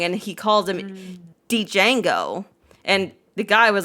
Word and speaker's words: Django: I shamed Keynes a few days ago because he was streaming, and he was talking about movies, and like that film Django, right?